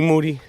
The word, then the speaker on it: Moody: do it now Moody last name rhymes with Duty uh I didn't know